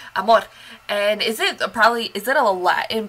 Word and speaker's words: AMOR: See, I did it with the accent. That's how you go. You gotta roll your R's. AMOR.